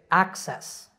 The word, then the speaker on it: access: with a double c that double c acts like k s so we say access accent in both of these words the stress is on the first syllable in the next two